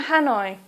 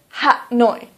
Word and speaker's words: Hanoi: Please try to use the English pronunciation. So, for example, Hanoi. Please don't say Ha-noi. Please say Hanoi.